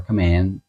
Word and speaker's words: Khmer: But Angkor is a place where the Cambodian Khmer, or Khmer, as you pronounce it there, built their structures and their cities and their everythings.